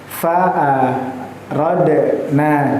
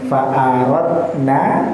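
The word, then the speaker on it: فَأَرَدْنَا: Kalau kita namakan ketika itu berada di tengah ayat, maka bacanya ee boten pareng faarodna, tetapi faarodna ada pantulan. Karena qalqalah artinya memantulkan. Sugra artinya kecil. Jadi bukan faaradna ya tidak dipantulkannya itu tidak ada jeda yang terlama karena pada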